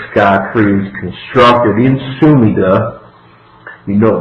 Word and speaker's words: Sumida: tree is constructed in sumida you know my good pronunciation there suid for those of you who AR in the Japanese that's how you say it Tokyo Joe Knows Tokyo